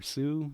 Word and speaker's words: Hsu: wrong result so it's Hsu research pronounce Sue so um you know